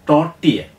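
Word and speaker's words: tortilla: ടി ഒ ആർ ടി എ എൽ എൽ എ ഉച്ചാരണം ടോട്ടിയ എന്നാണ് ഇതിൻ്റെ ഉച്ചാരണം ടോട്ടിയ എന്ന് പറഞ്ഞാൽ സ്പാനിഷാണ് അർത്ഥം ചോളം കൊണ്ടുണ്ടാക്കിയ ഖനം കുറഞ്ഞ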